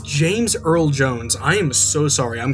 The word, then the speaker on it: James Earl Jones: I've been pronouncing Darth Vader's voice actor wrong, completely wrong. It is James Earl Jones.